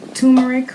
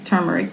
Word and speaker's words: turmeric: supplement the first is called to marrek or turmeric depending on how you want to pronounce it and is native to